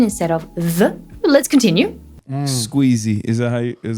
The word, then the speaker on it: Squeezie: Squeezie. Am I saying it right? Yeah, Squeezie. Okay.